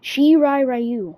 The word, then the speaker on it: Shirai Ryu: variations of the ronin the shibrai you the shi ryu right i can't pronounce it shirai ryu okay there we go and lasher there one